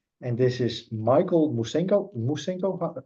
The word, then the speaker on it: Musengo: Musengo, how do you pronounce it correctly? Yes, very good, Yeah. Musengo.